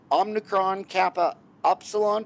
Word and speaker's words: Omicron Kappa Upsilon: He is a member of the Dental Honor Society, Omicron Kappa Upsilon.